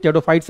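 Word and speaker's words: Pteridophyta: बोल देंगे, इट इज टेडोफाइट्स of animal kingdom. ठीक है, तो नहीं कुछ, हाँ पी साइलेंट होता है, टेडोफाइटा में पी क्या होता है, साइलेंट होता है।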